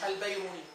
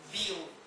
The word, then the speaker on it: بيروني: هو اصلا اسموش البيروني، الناس بتنطقوا البيروني، هو اسمه بيروني.